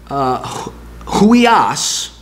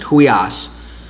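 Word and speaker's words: υἱός: bunch of them that takes the word who eos that's how you pronounce it who eos that's son and replaces it with the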